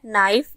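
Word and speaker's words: knife: इसमें W silent है नाइफ इसमें के साइलेंट है असाइन इसमें जी साइलेंट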